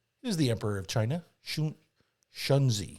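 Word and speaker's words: Shunzhi: pronounce his name he's the emperor of china shanzi spell it s-h-u-n-z-h-i shanzi they're quick with the z's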